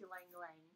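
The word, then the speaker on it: ylang-ylang: I don't think anyone knows how to pronounce ylang ylang.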